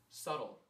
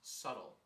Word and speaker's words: subtle: more sub sub sub today sub sub today subtle the word is pronounced subtle yeah okay keep that between you and me